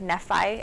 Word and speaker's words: Nephi: talked about Mormonism if they call it like Nephi instead of me fie and you're like we